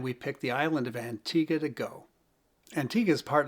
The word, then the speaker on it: Antigua: But when you look at it, it looks like it's Antigua. It's spelled that way.